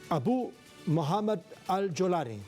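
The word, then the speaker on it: Abu Mohammad al-Jolani: una idea general del asunto se trata de abu Mohammed al jolar así se pronuncia Isabel AB Mohamed alani el principal propulsor de la inestabilidad del domingo en el gobierno sirio abu mohamad al yolani es el terrorista Quien encabezó los ataques en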